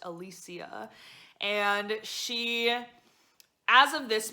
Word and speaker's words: Alicia: a woman named alicia i thought it was alicia but since listening to the audiobook it is pronounced alicia and she as of this moment is currently